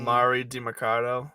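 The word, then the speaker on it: Emari Demercado: What is this guy's name? Amari DiMercado. I don't know if that's right, but it no, feels right. That's exactly right. That's exactly right. Yeah, that's exactly right. Amari DiMercado.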